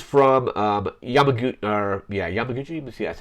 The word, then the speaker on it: Yamaguchi: so this is from um yamag or yeah Yamaguchi see that's how it's pronounced the designer yeah uh yeah Kazar Yamaguchi is the designer and it was quoted saying